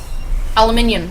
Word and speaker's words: aluminium: Aluminum. That's not the way to say it, that's the American way. There's another way. Aluminium.